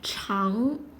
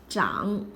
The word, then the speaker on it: 长: It is a polyphone, can be pronounced as cháng or zhǎng according to different contexts.